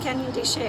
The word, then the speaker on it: Canyon de Chelly: soft pretzels and pizza canyon de chelly oh pronounced canyon de shea i learned something to learn more about the